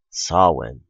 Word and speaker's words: Samhain: A long time ago, in ancient Britain, there was a holiday called Samhain. Yes, I know it's not spelled that way, but trust me, it's pronounced Samhain.